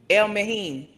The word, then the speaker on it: El Mehin: Hold on, cause he has it written in how it's supposed to be pronounced. It is El Mehin. Okay.